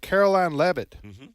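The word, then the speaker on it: Karoline Leavitt: forward to hearing from Caroline levit is that her name yes that's exactly how you pronounce she's 27 years old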